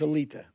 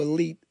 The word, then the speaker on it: Alite: So I say it three different ways myself still, but the real pronunciation is Alita.